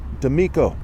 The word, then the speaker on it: D'Amico: Okay, like robbing somebody. The D, right, like DC, right, the penis, what have you. And Amico is like the word, right? They also say my name and. Okay, Amico is like another variation of that.